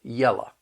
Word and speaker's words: yellow: have words like this, instead of pronouncing it low, you're going to hear people say la. So yellow becomes yella. Fellow becomes fella.